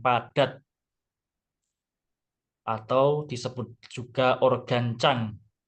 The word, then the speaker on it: Zang: atau disebut juga organ Chang tulisannya Zang Tapi bacanya Chang kemudian organ yang itu adalah